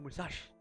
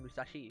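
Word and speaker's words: 武蔵: It doesn't actually pronounce the I.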